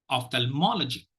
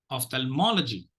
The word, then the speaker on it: ophthalmology: the pronunciation very carefully Ophthalmology Ophthalmology of thermology Ophthalmology you will be tempted to give more stress on tal but don't do that okay ophthalmology Ophthalmology because